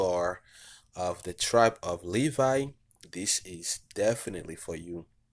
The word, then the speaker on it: Levi: So Levi, Levi. The English is written as Levi, but the correct pronunciation is Levi.